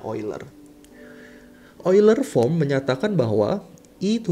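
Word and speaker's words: Euler: atau biasa disebut sebagai oil from the hai tulisnya eagler ya dibacanya oil boiler for menyatakan bahwa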